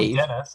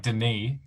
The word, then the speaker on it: Denis: Because it's not Dennis, it's like Denis.